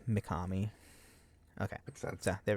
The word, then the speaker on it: Mikami: Yeah, Mikami. It's Kami is Kami. It's Kami. M-I Mikami.